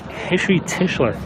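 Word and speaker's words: Heshy Tischler: I believe that's Hishi Tischler.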